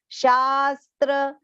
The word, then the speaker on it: शास्त्र: Yashastra, again here long sha and half sa, half the and complete ra. Shastra, vidhi, both short pronunciations.